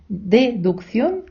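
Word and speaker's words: deducción: літеру се в словах дедукн і рекн в таких випадках коли ми бачимо подвійну се перша читається як к а інша як с дедукн рекн Хай вас не лякає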